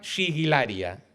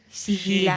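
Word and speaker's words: sigillaria: Entonces eran objetos de cerámica y entonces se llamaban siguilaria. Sigilaria. Siguilaria es la pronunciación correcta.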